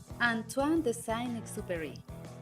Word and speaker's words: Antoine de Saint-Exupéry: Nada más y nada menos que El Principito, del autor francés que se pronuncia Antoine de Saint-Exupéry.